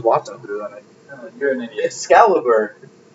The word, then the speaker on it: Excalibur: do you're an idiot Excalibur Excalibur I said escali a scalibur guys look at it it's a scalibur you just you just collected it with another wrong pronunciation es scalibur a wild